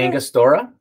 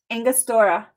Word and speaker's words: Angostura: we're gonna add some what how do you pronounce it angus dora angostura how how would you engo angostura and oh